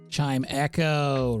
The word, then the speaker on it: Chimecho: Is it Chimecho? Chimicho? The little, like, chime Pokemon. I'm seeing a lot of love for slime, which I'm very happy about. Chime Echo, right.